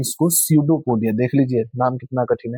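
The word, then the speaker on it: pseudopodia: अंग्रेजी में इसको सडोपोडिया। देख लीजिए नाम कितना कठिन है। पी से शुरू हो रहा है और उच्चारण होता है सडोपोडिया। पी एस ई यू डी ओ पी ओ डी आई ए सडोपोडिया देख लीजिए सडोपोडिया हिंदी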